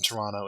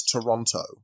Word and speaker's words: Toronto: but ontario's capital is toronto yeah toronto the second t is pronounced silently that's how the canadians do it okay well in here